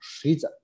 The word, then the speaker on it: Xidza: Y la palabra no es Riza, sino Shiza, como si estuviera escrito con SH.